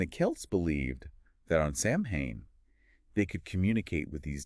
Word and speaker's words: Samhain: the new year October 31st was known as Sam Hayne okay and it's pronounced soen soan and the Kelts believed that on this night